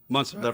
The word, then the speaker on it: Montserrat: Were the little frogs in Montserrat? Do I say it right? Mm-hmm. Montserrat.